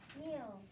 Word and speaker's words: mule: Mule. Mule. How do you spell that? M-U-L-E. Good. M-U-L-E. Mule. Okay, that super E jumps over to make that U long.